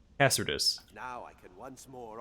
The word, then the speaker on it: Cassardis: Cassardis.